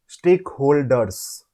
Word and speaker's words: stakeholders: I was saying it is pronounced as Z.